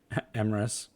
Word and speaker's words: Emrys: Obviously, it's become a tradition for us to, at the end of the night, raid Emrys rhymes with Abyss because he is a fellow Emrys, and we need to support our fellow Emrys brethren.